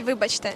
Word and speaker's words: вибачте: Ukrainian, you say вибачте.